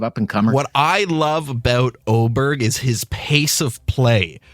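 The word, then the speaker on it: Åberg: I'm going with this guy, Oberg. It's spelled A-B-E-R-G.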